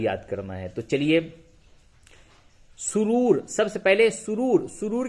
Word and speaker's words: سرور: تو چلیے، سرور، سب سے پہلے سرور. سرور کے معنی خوشی. ہجے یوں ہوگا، سین پہ سو، رے واو پیش رو، رے ساکن، سرور.